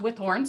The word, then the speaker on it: Withorn: It's pronounced Withorn, so I say it right.